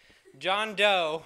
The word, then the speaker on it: Jean Deaux: great i know it song is called moody by jane jean john john doe but it's spelled like j-e-a-n can you type it